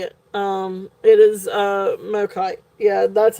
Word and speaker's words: Mokite: It is Mokite. Yeah, that's how you spell it.